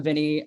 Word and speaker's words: Viennie: off so my name's Vinnie by the way so if you're wondering how to pronounce my name I'm Vinnie um I am a